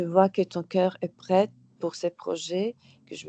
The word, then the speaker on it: prêt: prêt. C'est prêt. Exactement. Je n'étais pas sûr si tu avais prononcé le T ou pas, mais bien Non,